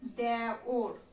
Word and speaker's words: দেওর: তারপরে দেয়া আছে হলো বানান দেওর, এটার উচ্চারণ আমরা করি দেওর।